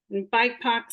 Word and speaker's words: BIPOC: first one is bipoc bike pox stands for black indigenous people of color and it is pronounced as a word not not said as um as the letters by Puck and it's